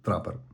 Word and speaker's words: TRPPR: До речі, компанія так і пише в описі, що слід вимовляти це трапер.